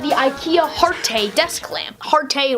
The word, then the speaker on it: Harte: Harte rhymes with parte, not really sure why they call it that.